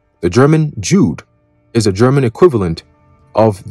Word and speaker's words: Jude: The J in the German Jude is pronounced exactly like the English Y in yes, youth, and yacht.